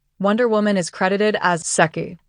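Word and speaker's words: Sec'y: All star number 30, Wonder Woman is credited as sucky. S E C apostrophe Y rhymes with sucky.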